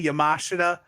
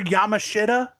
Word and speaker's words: Yamashita: Bro, when you literally, when I just heard you say Yamashita, my heart, I don't know if it's all the fast food that's getting to me or the fact.